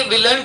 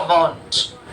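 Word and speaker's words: won't: और will plus note जो होता है ये विलेंट नहीं होगा, इसे कहा जाएगा वांट।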